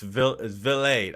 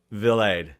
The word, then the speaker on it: Vilade: But it's Vilade. I've literally one of my last few Googles how to pronounce Ryan Vilade. Yeah, it's Vilade. Yeah. I'd have called him Vilade. Rhymes with delayed or blade, as Baseball America says.